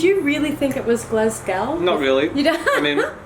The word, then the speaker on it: Glasgow: is it Luka its Glasgow what is it again Glasgow apparently W on the end is silent so it's one of